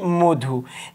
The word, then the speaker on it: মধু: তাহলে এটা কি হবে, মটা ওটা মানে মর সঙ্গে যে অ আছে সেটা ওর মতো উচ্চারণ হবে, তাহলে আমরা বলি মধু। সেই ঠিকভাবে নর সঙ্গে অ